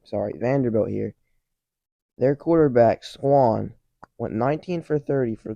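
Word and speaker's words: Swann: and the Vanderbilt quarterback Schwann Schwann what I say it like that AJ Swan um he's their returning starter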